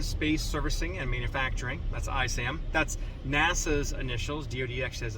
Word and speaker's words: ISAM: tour uh first off what's I Sam tell people why it's a silent s secondly what are the